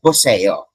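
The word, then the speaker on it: 보세요: So you pronounce it like this, poseo.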